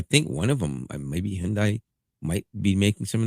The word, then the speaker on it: Hyundai: And that is, and you can laugh all you want, but Kia and and uh Hyundai, and that's how you say it, by the way. Hyundai.